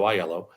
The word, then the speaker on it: Aiello: But when someone says, "Hello, my name is Aiello," thank you for pronouncing it correctly, by the way, Rebecca.